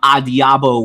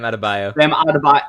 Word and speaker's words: Adebayo: So obviously that Tuesday night, besides the Bam Adiabo whatever guy scoring 83 points. Did I horribly mispronounce Bam Adebayo. Bam Adebayo. It was in the ballpark.